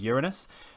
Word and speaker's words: Uranus: Anyway, yeah, so, and I believe the pronunciation now is accepted as Uranus, but it is a very large gas giant planet, and also very icy, we think.